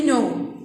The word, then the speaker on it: know: The K is silent. I don't say no. The no, the N, when the